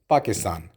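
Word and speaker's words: باكستان: अना मिन पाकिस्तान, आई am from पाकिस्तान. चूँकि अरबी में पे नहीं होता इसलिए हम पे की जगह बे का इस्तेमाल करते हैं, इसलिए हम पाकिस्तान को पाकिस्तान लिखते हैं.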